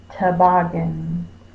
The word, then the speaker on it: toboggan: toboggan the ah mm toboggan Oh is the schwa sound is spelled with an O if I have a dog named to log in you know fussing at E I'm gonna say 25 you so bog is going to be my stressed syllable not too it's not to bargain it's not to-- bogging it's tough but my lips are close i'm on his first all good and it's a schwa